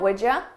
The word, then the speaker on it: would you: You becomes ya, and I combine those sounds.